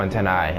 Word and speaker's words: antennae: Well, actually, should I be pronouncing that antennae or antenna? No, they have two, so antennae, I think. I think that's how that works.